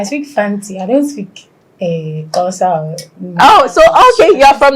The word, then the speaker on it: Xhosa: It's Xhosa. Let me just spell it because me can't know how to pronounce.